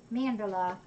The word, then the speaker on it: Mandela: Is that how you pronounce it? Like Nelson Mandela? I don't have it on here, but it's M-A-N-D-E-L-A. Mandela. You could probably pronounce it a couple different ways.